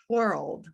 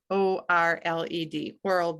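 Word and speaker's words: whorled: it's beautiful and then something called world milkweed and that's spelled w-h-o-r-l-e-d world milkweed so those are the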